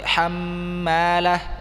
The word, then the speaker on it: حمالة: حمالة جيد أول ترقيق لأنه ميم مرققة لكن لأنه حاطب حمالة ما أنه حاء كما نطقت الأول مرقق ثاني مرقق لأن بعدها طاء تأثرت بالطاء حاطب. Nah, ha-nya harus tipis. Yang ha yang pertama sudah benar tadi, hammalah ya. Dia karena ketemunya huruf mim tipis.